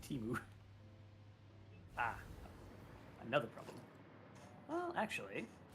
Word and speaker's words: Temu: It's supposed to be Timu.